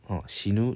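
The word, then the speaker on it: 死ぬ: 라는 뜻 의 단어가 되는데 , 이는 " 시누 " 라고 발음 됩니다 .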